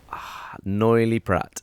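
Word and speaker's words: Noilly Prat: internet but you know uh yeah how you pronounce that ah yes good have a go what do you reckon noily Pratt perfect I'm so glad you did that I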